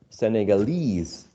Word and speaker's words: Senegalese: syllable japanese japanese right we know that whenever we use this suffix right because the i guess the original words japan japan japanese this suffix is attracts the stress japanese senegal senegalese portugal portuguese okay so um this uh suffix right attracts the uh uh the stress legal legalese okay it's